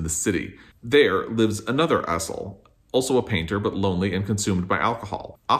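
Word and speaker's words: Asle: It's spelled A-S-L-E. I'm going to say Azel, but I don't know if that's correct.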